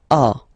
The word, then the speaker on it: as: Second one, tu as, okay. As usual in French, final s is not pronounced.